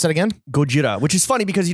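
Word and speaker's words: ゴジラ: a word like oh like but like yo gojira is the proper pronunciation you are the dumbasses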